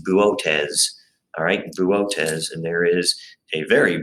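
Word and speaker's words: Boötes: and this is a very funny word it's pronounced buotes and there is a very bright star in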